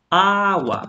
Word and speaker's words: agua: example, agua. So you notice this word starts with an A and the stress goes on that very syllable.